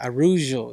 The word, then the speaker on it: Araújo: But at 125, you have Grasso, you have Aruja, I believe her name is. Am I saying it right? Viviane Araújo? Yeah, Araújo.